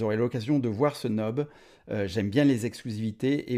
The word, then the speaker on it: knob: Alors vous voyez, on vous présente ce knob en knob, on appelle ça, on ne prononce pas le K. Le knob en exclusivité.